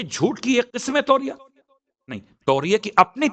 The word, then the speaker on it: توریہ: اسے توریہ کہتے ہیں۔ توریہ، اے واو رے یہ گول ہے توریہ۔ میں نے اس لیے اس کی تلفظ کی وضاحت بھی کر دی تاکہ اگر کہیں آپ